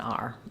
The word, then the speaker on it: our: always stays hour uh this one becomes more of an R um our habits our work etc so it's confusing because it's not incorrect to say our our friends our habits but